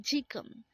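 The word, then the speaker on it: 지금: yesterday next word is chikung again it's jikum and this is used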